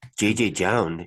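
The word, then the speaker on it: JJJJound: I heard a guy on the internet call it JJ Jound. Okay. I've never heard that before. JJ Jound. I mean, you know, if you put 4 J's in a row, someone's gonna mispronounce it.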